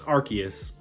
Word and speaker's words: Arceus: be an arceus episode i keep saying it's arceus this is the correct pronunciation now so the hierarchy is episode people thought we were going to get but with pokemon legends arceus coming out i don't think that's as likely